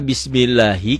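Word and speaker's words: بسم الله: Kenapa Bismillahi? Karena sebelum lafaz Allah barisnya di bawah, ini dibacanya tipis, tarkik ya.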